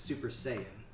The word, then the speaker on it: Super Saiyan: I'm saying it how I'm saying it it's Super Saiyan that's right Super Saiyan you're just saying fight